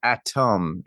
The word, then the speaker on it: Atom: Like, why Well, it's spelled Atom, A-T-O-M, not A-D-A-M.